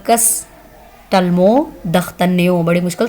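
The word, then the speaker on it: d'Artagnan: दख्तन्यो France में कहते हैं इसको, और इंग्लिश में इसको कहते हैं डख्तन्यो, ड साउंड आएगी उसकी, ठीक है, डख्तन्यो। तो फ्रांस में इसको द से प्रोनाउंस किया जाएगा।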